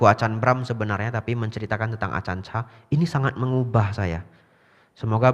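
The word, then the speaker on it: Ajahn: gurunya bantai Acan Bram Acan artinya guru ya ditulis pakai j sebenarnya bacanya C Itu bahasa Thai bahasa yang benar adalah Acan hanya panjangnya a yang kedua panjang Acan ya nah jadi ada satu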